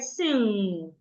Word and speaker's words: sing: We have it in words with NG or NK. So for example, if I have letter G after letter N will not sound again. It will start to sound So I have the word sing.